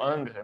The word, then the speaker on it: Ingres: Do Ingres ou Angra, né? Eu geralmente falo com a pronúncia francesa, mas não tem problema também falar na Eu. pronúncia brasileira, em português.